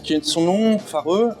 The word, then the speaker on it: Fårö: est de son nom fare en suédois ça se prononce for c'est une île qui